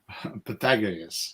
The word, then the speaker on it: Pythagoras: And an accent on the second syllable. Pythagoras.